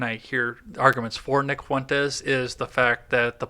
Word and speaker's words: Fuentes: How do you pronounce it? Fuentes? What's his name? Fuentes.